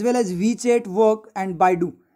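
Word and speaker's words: Baidu: As well as WeChat work and बाइडू, ये बाइडू है, बादू नहीं है, ठीक है।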